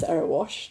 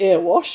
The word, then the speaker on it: Erewash: was elected to Parliament nobody could pronounce araash they called it ear wash I said is are